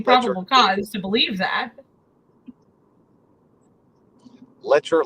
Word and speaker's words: Letcher: cause to believe that lecher like Fletcher well I guess there